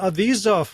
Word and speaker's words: Avizov: Blair Seibert with a long I, and Doron Avizov, which rhymes with keep the cheese off.